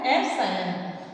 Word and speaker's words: epsilon: तो हमने इसी को ही एप्सिलॉन को ही हम क्या बोलते हैं परमिटिविटी, इसका प्रोनाउंसिएशन है एप्सिलॉन।